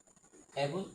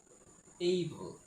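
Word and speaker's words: able: আমরা সাধারণত এটাকে অ্যাবল উচ্চারণ করে থাকি, কিন্তু এটি সম্পূর্ণ ভুল উচ্চারণ। এটার কারেক্ট প্রনাউন্সিয়েশন হচ্ছে এইবল, এইবল।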